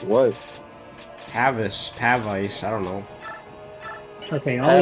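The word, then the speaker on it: Pavise: Pavice. I don't know. Okay, all you need is Pavice. It's pronounced Pavis. Yeah, it is not Pavius.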